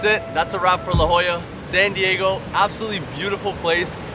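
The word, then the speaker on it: La Jolla: We are here at La Jola Beach, or as the locals say, La Hoya.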